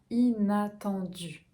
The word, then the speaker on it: inattendu: En 11, on a inattendu. Ok, donc attendu, attend, voyelle nasale, temps, du vers l'avant, attendu.